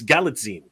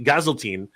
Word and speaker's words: Galitzine: I keep pronouncing it wrong. It's Galitzine. It is Galitzine. I used to say Gazeltine. It's actually Galitzine. So I'm getting used to it. Like a Visine. Yes, like a magazine.